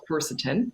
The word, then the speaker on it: quercetin: supplement called quercetin and it's spelled q-u-e-r-c-i-t-i-n is that right yeah exactly yeah i've actually got a bottle here to show you how it's spelled uh quercetin sorry there quarter times you can see the spelling of it um and and